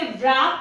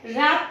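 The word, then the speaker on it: wrap: हम इसे wrong पढ़ें, रैप में भी हम इसे व्रैप नहीं पढ़ते, रैप पढ़ते हैं, क्योंकि आर के पहले W आ रहा है तो ये साइलेंट हो जाएगा।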